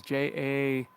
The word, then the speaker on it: javelina: It's spelled javelina is Javalena, javelina.